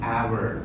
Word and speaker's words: hour: And we have something called honor, wherein you do not pronounce the letter H as an hour.